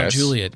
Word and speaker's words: Mount Juliet: Mount Juliet is how it's said.